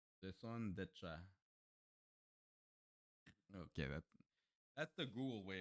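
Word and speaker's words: raison d'être: Raison de etre. You didn't pronounce it properly. Raison d'etre.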